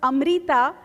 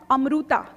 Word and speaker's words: Amrita: She couldn't even tell people that her name on the birth certificate was Amrita and not Amruta. You know, every Marathi household has these innumerable mispronounced names, and mine was one of them. Until I mustered up the courage to say, stop calling me Amruta, I am Amrita, I realize so much is in the name.